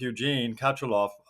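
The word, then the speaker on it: Eugene Katchalov: I understand, and I've worked with Eugene Kachalov.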